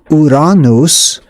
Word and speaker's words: Uranus: Uh, now if you call it by its actual name, which is Uranus, then people will have probably have no idea what you're talking about.